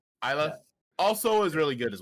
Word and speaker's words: Isla: Yeah, Isla. Isla.